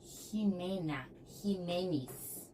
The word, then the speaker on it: Jiménez: O nome próprio também, Jiménez, é com X, escreve com X, mas fala com som de J aqui na garganta.